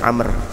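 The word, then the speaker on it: عمرو: Dari Amr bin Shu'aib, kalau ada ain, mim, ra, waw dibacanya Amr.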